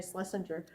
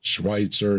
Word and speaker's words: Schweitzer: Her name was Mary Schlesinger. She got the name wrong.